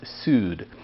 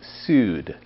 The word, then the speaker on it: Saor: scotton uh which goes by the name of sued it's spelled s-a-o-r but the gaelic pronunciation is sued but before we dive into today's music let's